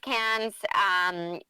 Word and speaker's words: Cannes: Yeah, it was my first cans, and you're actually doing a much better job than I am in pronouncing it the French way, can.